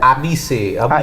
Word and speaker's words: Abhishek: Abhishek like that or he's spelled like that? Abhishek.